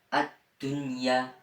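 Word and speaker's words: الدنيا: dalam satu kalimat nah cara membacanya yaitu jelas tidak boleh dengung dan juga tidak samar dan juga tidak ee apa namanya tidak boleh diidgamkan cara membacanya begini addunya Dunya secara jelas dunya yang keempat yaitu bilunah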